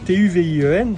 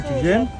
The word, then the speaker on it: Tuvien: Alors c'est un petit breton, il s'appelle Tuvien, T-U-V-I-E-N. Bon, on le prononce comme on veut, Tuvien, Tuvienne.